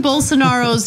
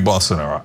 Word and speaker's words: Bolsonaro: Does learning Bolsonaro's name help him sell pillows?